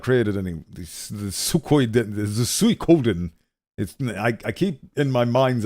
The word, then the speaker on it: Suikoden: The Suikoden. I keep in my mind's eye. I keep pronouncing it Suikoden, but it's not Suikoden. It's Suikoden. That is fascinating.